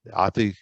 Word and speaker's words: Athi: So the research that I did on this fire, this happened in a school at Athi. Is it Athi River? Athi? Am I pronouncing that right?